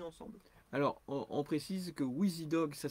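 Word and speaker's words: Wizidog: Alors, on précise que WheezyDog, ça s'écrit W-I-Z-I.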